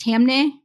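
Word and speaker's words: Taamneh: one of them is Gonzalez V Google the other is twitterv uh I believe it's pronounced tamne let me tell you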